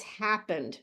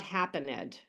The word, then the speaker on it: happened: This E is silent. It's happened, not happened. Happened. Okay, it's happened.